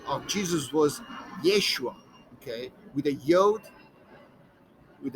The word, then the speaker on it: Yeshua: here and then the final gather letter i yin it looks like a y with um and long a at the end so this reads yeshua okay that was the